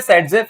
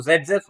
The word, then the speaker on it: Saytzeff: यहां पर आपके पास एक रूल लगता है, और ये जो रूल है ये कौन सा होता है, जेड, लिखते सेडजेफ हैं, बोलते जेड हैं।